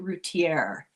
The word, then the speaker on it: Rutier: Oh, it was that Darly Rutier that she pronounces it rutierre. I always thought it was French, but but I'm fancy.